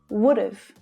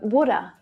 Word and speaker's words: woulda: should have left earlier would have becomes would've would've or woulda my dad would have